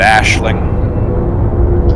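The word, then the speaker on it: Aisling: name eileen yeah the if you listen to the the audiobooks that they have on file and the codex everybody pronounces it ashling all right yeah although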